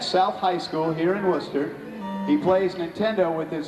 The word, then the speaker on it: Worcester: Worcester, right? Worcester. Worcester, see? I gotta say it right.